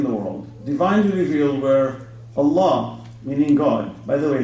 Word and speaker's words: Allah: you have called Allah they don't even say it properly Allah it's Allah they say Allah this God that you